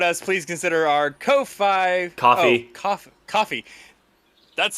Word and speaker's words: Ko-fi: Coffee. Oh, coffee. That's spelled weird. I don't like it. That's how the Coffee company's... page. For those of you who don't know, coffee is for some reason spelled Ko-Fi.